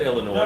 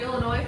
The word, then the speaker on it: Illinois: I said Illinois. No. Body Geeks the other night said he was going through Illinois. Illinois, yeah. I said, no, the S is silent.